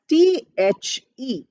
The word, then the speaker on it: the: article is written as th e it is pronounced as the the you put your tongue between your teeth and say the the the and a sound a